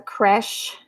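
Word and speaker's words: crèche: Okay, guys, so I had to know, and I was pronouncing it incorrectly. It was a creche, and I did not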